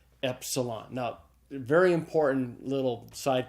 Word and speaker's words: epsilon: next letter is an epsilon it's a short e sound it's like the II in the English word met so say those with